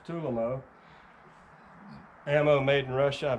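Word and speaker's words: Tulammo: tulamo some people i used to call it tool ammo but it's actually pronounced tulimo ammo made in russia i've never had a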